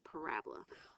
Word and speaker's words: parabola: is called a parabola kind of looks like I wrote parabola but the way you pronounce it is parabola all quadratic equations make